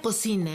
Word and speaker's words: cocina: La palabra cocina empieza con C, pero no va con K. Aquí, aquí también y aquí. Se pronuncia K. Sí, pronunciamos K, pero se escribe con C.